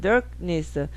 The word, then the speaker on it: darkness: 알발음 dark 빨리 하면 darkness. 자 darkness에서 R을 포기하고 크를 강하게 할까요? R을 선택하고 크를 약하게 할까요? 크를 약하게 합니다. 그래서 혀꼬부라진 소리처럼 들리는 거예요. darkness 이렇게 돼요.